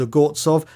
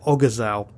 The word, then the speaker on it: Ogorzow: Now, I've actually checked the pronunciation of the surname and I found the correct pronunciation is Ogorzow, although some documentaries pronounce it Ogorzow. I spoke to a German who clarified this, so we'll be pronouncing it as a normal German-speaking person would do.